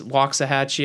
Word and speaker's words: Waxahachie: just mentally reminding myself i mispronounced that town it's waxahachie i think yeah there